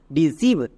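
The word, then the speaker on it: deceive: কোনো ওয়ার্ড যতই বড় ওয়ার্ড হোক এক নিমেষে উচ্চারণ করতে পারবা। যেমন দেখো ডি ই ডি, সি ই আই ভি ই, সিভ, ডিসিভ।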